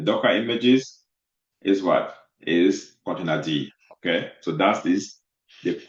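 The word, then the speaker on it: containerd: It's container D. Okay. It's not container. Okay. Because some of you are so funny. You call it container.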